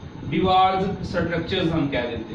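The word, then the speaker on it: Dewar: जबकि हमारे पास एक और साइंटिस्ट है, उसको डिवार बोलते हैं या डियोर भी इसको आप कह लें, कुछ जगहों पे प्रोनाउंस किया गया है।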